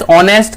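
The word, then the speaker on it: honest: इसीलिए ही is dash ऑनेस्ट क्या आएगा? एन आएगा। क्योंकि ऑनेस्ट एच इसमें साइलेंट है।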